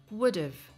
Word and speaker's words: would've: american or british english have usually reduces to a v sound would've or a schwa and